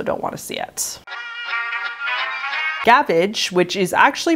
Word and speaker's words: gavage: Gavage, which is actually more likely pronounced gavage as it is a French word, literally means to gorge.